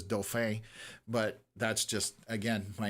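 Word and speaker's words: Dauphin: Anyways, the way I pronounced dolphin because I I pronounced it the French way, which is doof, but that's just again my natural tendency.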